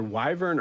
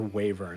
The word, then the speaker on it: wyvern: It's either wyvern or wavern. I've seen about 20 websites that have said. I feel like in most video games I've seen, they've pronounced it wyvern. Yeah, almost every game I played is wyvern. Yeah. There's like a dictionary site that says wavern like clearly on there too.